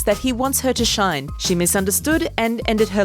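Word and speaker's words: 死ね: it is ironic that the English reading of the word sounds like shine which is a positive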